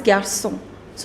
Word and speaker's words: garçons: But in French, the pronunciation is same. Even this is garçon, even that is garçon. So, you do not pronounce the last consonant, which is S. Okay. So, you make plural by adding an S, but you do not pronounce that S.